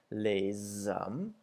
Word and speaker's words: les hommes: When S is it's usually with S's when they come before a vowel, it makes a Z sound. So for example, les hommes, as opposed to les femmes, where the S isn't pronounced.